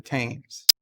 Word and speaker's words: Thames: I'm pretty sure they pronounce it how they pronounce that river in London. It's the Thames. Thames. It's pronounced, it's spelled Thames.